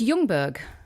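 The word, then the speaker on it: Ljungberg: is measured of dogs oh so it's youngberg so this whole time i've been pronouncing his name incorrectly for like 20 years this is insane your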